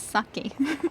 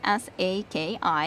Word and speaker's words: Saki: Well, it is Saki. So, it is said like that. Like, if you think about how it is in Finnish, then it's Saki. It is S-A-K-I, and in Finnish, that's how it's said.